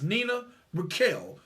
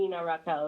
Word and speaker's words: Nina Raquel: My wife is Hispanic, and she always telling me I got to roll those R's. Absolutely, absolutely. But yes, you can call me Nina Raquel if you can't roll your R's.